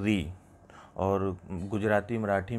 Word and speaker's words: ऋ: उनको ह्रस्व स्वर अ, इ, उ, री। जो ऋषि है उसका उच्चारण हमारे यहाँ किया जाता है री, और गुजराती मराठी में इसको रू भी कहा जाता है।